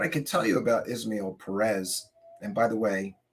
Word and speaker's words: Ismael: and by the way, I have heard people call him Ishmael, and I've heard people call him Ismael or Ismael. Um, I believe it's Ismael. There's no H there.